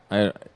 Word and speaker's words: Sturtevant: It's STURTEVANT. You lost me. STURTE. Stir Stua. Van. Sylvan. I'd have to look at it. STU. I'm done. Say it like the Swedish stuff. Let's do it. Sturtevant.